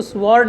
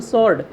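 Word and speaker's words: sword: टू द स्वॉर्ड, उसकी स्वॉर्ड से शादी हुआ करती थी। कि यहाँ पे डब्ल्यू साइलेंट है बेटा, तो इसको स्वॉर्ड ना बोलें, इसको बोलेंगे स्वॉर्ड। डब्ल्यू साइलेंट तो क्या बोलेंगे, स्वॉर्ड।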